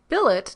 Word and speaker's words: billet: seen mpom man kind Billet does not rhyme with ballet bouquet wallet Mallet Chalet